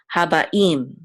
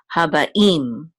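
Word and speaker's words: הבאים: It's a tipcha, and so we know that the accent of this word is on the last syllable. So habaim.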